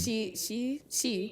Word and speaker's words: Xi: How do you say the first name? Like she. Is it she? XI. She. That's like XI.